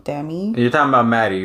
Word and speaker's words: Demie: uh who's that chick Alexa demier I think that's how you pronounce it Alexa Dem like it's spell d e m i e so dami you're talking about Maddie